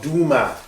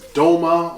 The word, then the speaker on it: Duma: discussing the history of Duma and what exactly this place is. It's been in the news a couple of times. It's been disgustingly mispronounced as Doma, along with Gota and Guta, and it's just a